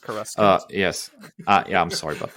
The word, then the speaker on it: Coruscant: It's Coruscant. It's pronounced Coruscant.